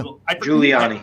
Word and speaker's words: Giuliani: Giuliani.